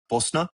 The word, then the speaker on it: Bosna: So, I learned uh this last weekend that the Bosians pronounce it Bolna, Bosna, Bosna, uh Bosna, BSN.